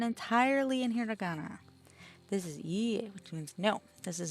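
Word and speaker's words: いいえ: When dealing with repeated vowels such as ee, you draw out the length of the sound. It's not quite the same as repeating the vowel twice.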